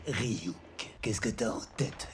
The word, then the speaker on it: Ryuk: Et maintenant, admire, ça se prononce Ryuk.